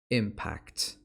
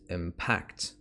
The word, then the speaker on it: impact: When this one is a noun, the pronunciation is impact. Impact. When it's a verb, the pronunciation is impact. Impact. It's on the second syllable.